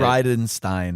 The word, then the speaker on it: Bridenstine: not hard to say people inevitably say like oh like bri of Frankenstein and I'm like yeah that's a great way to remember how to say it brightenstein yeah but also it's